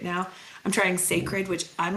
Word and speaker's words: Cecred: or testing new brands right now, I'm trying Sacred, which I'm like praying I'm pronouncing that correctly.